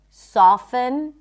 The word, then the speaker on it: soften: But just so you know, the T is generally not pronounced in this word. Fasten, soften, moisten. It's not moisten, moisten.